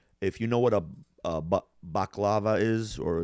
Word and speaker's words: baklava: If you know what a baklava is, or in the way the Greeks pronounce it, baklava, it's phyllo dough with nuts and honey and, layer after layer after layer.